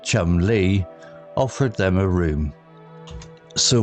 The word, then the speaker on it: Chumley: The inkeeper, whose surname was Chumley, pronounced Chum Lee, offered them a room.